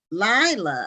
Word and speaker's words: Laila: is by larry miller and how are you pronouncing your first name i thought it was layla but tyler lila okay lila lacy his daughter this collaboration go